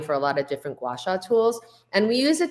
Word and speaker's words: gua sha: another one which many people might not be aware of, and you can correct me if I'm pronouncing it wrong. It's gua sha or gua sha.